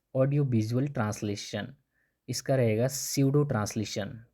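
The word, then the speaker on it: pseudo: इसका रहेगा स्यूडो translation. P इसमें साइलेंट रहता है ना, तो स्यूडो पढ़ते हैं इसको.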